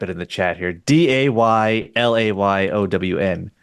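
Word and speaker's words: Daylayown: d a y l a y o w n that's just my last name pronounced day lay own.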